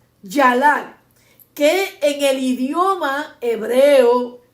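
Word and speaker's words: ילד: Cuando se busca el sinónimo de la palabra moladet, el sinónimo es yalat, Y-A-L-A, con acento en la A y T, yalat, que en el idioma hebreo quiere decir alumbramiento, estar de parto, dar a luz una nación.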